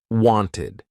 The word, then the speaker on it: wanted: So if the verb ends in a t or a d, you're going to use that ID ending. Wanted.